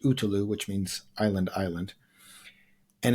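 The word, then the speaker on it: Ötillö: this swim run race called otil which is pronounced utu which means island island and it's you you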